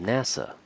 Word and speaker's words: NASA: space administration instead of saying the nasa we pronounce it as nasa the president of the united states again instead